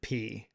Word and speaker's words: Peay: From what I can see, it is P. Like it is Austin P. I actually saw someone say like um that they it's pronounced like the letter P.